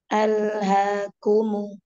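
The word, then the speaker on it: أَلْهَاكُمُ: Di situ bacanya antara A ke lam jangan ada spasi al, al, al, al, al, ha. Alha alha kumu kumu jelaskan dua dhammahnya.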